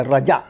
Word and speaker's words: رجا: لفظ رضا، رضا الہی۔ وہ را ضاد الف ہے، یہ را جیم الف ہے، رجا۔ یہ رجا کا مطلب ہوتا ہے امید کرنا، رجا۔ تلفظ کے فرض سے رضا کو رجا اور رجا کو رضا اگر بولا تو کچھ کا کچھ ہو جائے گا، تلفظ کا بہت خیال